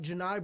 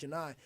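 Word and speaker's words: Johni: And when you have a guy like Johnny Broom, like Janai Broom, excuse me, it's spelled like Johnny, but it's pronounced Janai.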